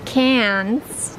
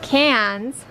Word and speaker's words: Cairns: To Cairns. Dang it, I always say it wrong. Cairns.